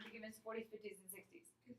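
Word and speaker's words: soixante: 50, And then 60. 60. All right, very good. I'm going to give you the pronunciation of this one. S-W-A-S-A-N-T-E. 60. That's the pronunciation for that. 60.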